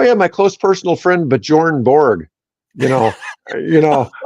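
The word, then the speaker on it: Björn: Bjorn. But Yeah, yeah, all the Scandinavian countries pronounce that like it was Byorn.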